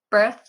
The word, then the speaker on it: birth: Birth and death. They both have this TH sound at the end.